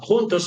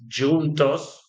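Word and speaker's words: juntos: impossible to forget uh hunos means together in Spanish and it's pronounced differently in Portuguese it's junos but the meaning is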